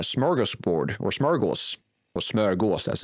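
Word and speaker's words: smörgås: I learned where the word uh smorggas board or smaros or smurgos as it's actually pronounced Swedish but I'm pretty sure Americans have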